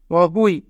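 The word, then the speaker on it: 어휘: Young প্রথমে থাকলে young এর উচ্চারণ হয় না, ওয়া হিউত মাঝে থাকলে হ, যদি দুইটি স্বরবর্ণ থাকে তবে নিজের স্বরবর্ণটি আগে পড়তে হয়, উ ই। অহুই, অহুই মানে শব্দ ভাণ্ডার।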